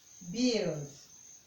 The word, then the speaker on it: build: You can hear it in UI as in build, build, build. That is how to pronounce this word, build.